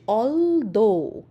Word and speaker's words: although: কালারে বানানটা করা আছে এ এল টি এইচ O Yuji H অলদো উচ্চারণ হচ্ছে অলদো যার অর্থ হবে যদিও